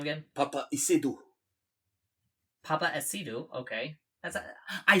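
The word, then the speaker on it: Paapa Essiedu: Papa Isidro, okay.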